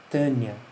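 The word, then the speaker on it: Taenia: E cestoda, nós temos a pronúncia, a gente escreve taênia, mas isso a gente tenta pronunciar as duas letras, né? As duas vogais juntas, então sai quase que Tânia, né?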